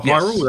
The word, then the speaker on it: Hyrule: Is it is it Hyrule? That's how it's pronounced.